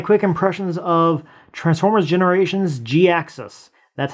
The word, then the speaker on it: Jhiaxus: Hi guys, Brian here, and today I want to give you my quick impressions of Transformers Generations Jhiaxus. That's how you pronounce it because it was when this character